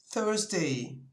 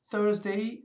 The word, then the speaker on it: Thursday: benzeyen bir okunuşa sahip şurada bir Peltek okuyuşumu var TH dediğimiz bir ses var thursday thursday Perşembe geçiyoruz haftanın son